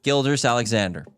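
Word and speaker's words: Gilgeous-Alexander: Gildas Alexander. That's how you pronounce it.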